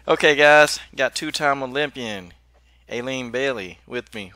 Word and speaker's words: Aleen: sports show live okay guys got two-time Olympian Aileen Bailey with me right now and I'm pronouncing your name right correct yes okay I